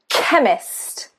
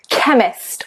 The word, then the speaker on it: chemist: However, because English comes from a multitude of other languages, ch, CH can also be pronounced k, k. So, chemist, k, chemist, or commonly ache.